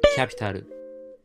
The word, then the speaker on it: Kapital: Capital 日语读音 Capital，去年 Capital 火了，今年只会更火。